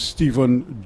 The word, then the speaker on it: Stephen: just reminding me that here in Trinidad s-t-e-p-h-e-n is still pronounced as Stephen and not that Steph as the Americans like